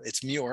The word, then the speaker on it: Muir: So my name is, for whatever reason, is hard for people to pronounce, I guess, but it's Muir, M-U-I-R. So the website is Pure Muir. So it rhymes.